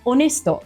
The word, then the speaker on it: honesto: And what about héroe, hero, and honesto, honest? They start with the silent H too.